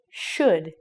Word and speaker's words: should: It's our modal should. In this word as well, the O and the U are silent. So it sounds like this word, except we're changing it to should.